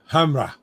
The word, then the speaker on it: Hamre: I could never pronounce his name right. Yeah. Hamre. Hamra.